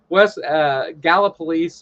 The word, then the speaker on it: Gallipolis: bridge connects is Gallipolis, is the way it's pronounced. I know West Virginia terminology probably isn't Dave's strong suit. So Gallipolis and Kanawha County.